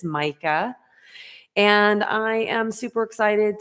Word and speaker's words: Majka: I know it doesn't look like it should be said that way, but it is Mica.